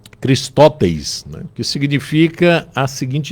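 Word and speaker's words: χρηστός: traduzido por benignidade lá a pronúncia dela seria cristes né que significa a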